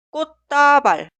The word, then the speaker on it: 꽃다발: Siguiente, se escribe así, pero suena 꽃다발, 꽃다발, 꽃병, 꽃병, 꽃삽, 꽃삽.